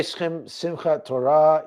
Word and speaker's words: Simchat Torah: When you say Simchat Torah, you're saying it or pronouncing it absolutely perfectly in Hebrew.